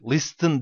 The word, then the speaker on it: listen: listen'' dan sonra bak Listen değil He Bunu da çok bu hata da çok yapıyor arkadaşlar Listen değil Listen orada t harfi var fakat telaffuz olarak olarak yok Listen eem is Listen